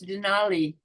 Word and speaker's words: Denali: Your name is not spelled the same as Denali, the place, is it?